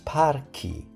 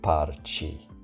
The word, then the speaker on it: parchi: So, we get example like parco becomes parchi, not parci, without the H. Lago becomes laghi. Banca becomes banche, and amica becomes amiche. Without the H, the pronunciation would change and sounds much softer, so adding the H keep the original sound intact.